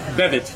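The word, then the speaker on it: Beavitt: Bevitt. Bird. Yeah, Because, and Bevitt is spelled B-E-A-V-I-T-T.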